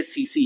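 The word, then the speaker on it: tsetse: टी एस टी एस लिखा जाता है। बट इसको पढ़ते सीसी है। ठीक? ठीक है? टी साइलेंट होता है इसमें।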